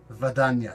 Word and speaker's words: Vadanya: Is it Vadanya? Exactly. Vadanya, sort of like a Russian kind of sounding name.